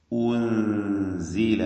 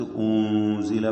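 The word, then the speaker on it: أُنزل: ഉൻസില എന്ന് ഉച്ചരിക്കുക. മറിച്ച് ഊൻസില പറയരുത്.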